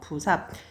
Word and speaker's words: 부삽: 그 다음에 또 불 플러스 불을 푸는 삽 이래서 불삽 만났어. 그래서 어떻게 되죠? 부삽. 이렇게 리을 탈락이 있었다.